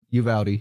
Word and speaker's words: Uvalde: Uvalde, yeah.